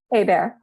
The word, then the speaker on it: Hébert: So I can't wait to also introduce now Hébert, a bear in the forest. Did I say it right? Hébert.